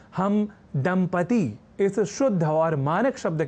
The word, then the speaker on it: दंपति: दंपति इस शब्द को लिखने और उच्चारण के क्रम में लोग दंपत्ति या दंपत्ति जैसे प्रयोग कर दिया करते हैं और